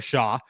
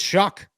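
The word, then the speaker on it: Shough: in Louisville's Tyler shuck who is not spelled like Shu at all it is spelled like Shaw everybody talks about him as though his name is Tyler Shaw or show or whatever it is it's shuck it's Tyler shuck guy who played at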